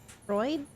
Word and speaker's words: Freud: Freud. I thought there was an I. You pronounced it right.